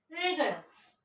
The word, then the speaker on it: rigorous: This one not R, this one Ra, E, G, A. Schwa sound, it looks like reverse E. And it is schwa sound.